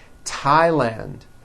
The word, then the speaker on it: Thailand: Although these next words and names are spelled with a TH, they are pronounced as if they were spelled with a normal T, like that. And these words are Thomas, Thompson, Teresa, Thailand, Thames, like the river, Esther, and thyme, which is a spice.